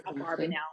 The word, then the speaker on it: Abravanel: So if you can see there, the Abravanel, if you put the vowels a little bit differently, you could see it read as Abarbanel.